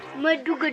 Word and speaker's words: Mudugudu: Madugudu. Did I say it right? Madugudu. Madugodu. Madugudu. So Madugudu.